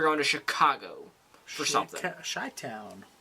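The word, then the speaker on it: Chi-Town: to Chicago for something shy Town what shy Town shy Town that's what it's called that's weird it's spelled chip sorry yeah chai Town chai Town what they call them CH it's not chit toown just sounds like a stutter Town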